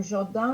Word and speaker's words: jardin: personne a dit le jardin d'été, et après on lit comment c'est écrit, on se rend compte, ah non, je ne prononce pas le N à la fin du mot jardin.